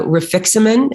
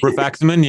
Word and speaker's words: rifaximin: yeah how about uh refixament is that how you say it rifaximin yeah placebo short term